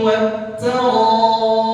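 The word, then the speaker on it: والترائب: Dibacanya wat ta. Mestinya wat taraib. Ya, mestinya wat taraib. Ya, wat taraib ohnya dibaca 4 harokat karena mad wajib muttasil.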